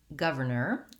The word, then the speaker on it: governor: fluently in your speech the word governor is challenging because it has multiple er sounds so the r sounds